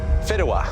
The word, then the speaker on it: fideuà: Fideuà.